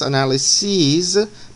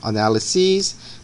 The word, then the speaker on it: analyses: they are the parentheses you pronounce it ease and you write SES so the plural form analyses Basie's crises these are